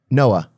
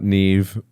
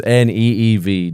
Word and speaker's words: Niamh: And the next one, Niamh. Noah. No, Neve. Neve. Okay. Just Neev. Neve.